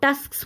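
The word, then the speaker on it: tusks: आप इसको टस्क बोलना ईजी है, बट टस्क्स बोलने में जो पीछे की आवाज़ आती है एस वाली, वो बहुत कम आती है, बट वो सुनाई भी देनी चाहिए, तभी हमारी इसकी प्रोनाउंसिएशन सही होगी, ठीक है।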